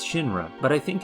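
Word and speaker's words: Shinra: first good look at Shin-Ra's logo, albeit upside down. While the English text is still harder to make out, the Japanese text is far more discernible. Of course, phonetically it reads Shin-Ra, but I think it's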